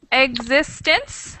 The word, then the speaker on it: existence: And it's existence, that's 3 syllables, and the stress is on the second syllable, existence.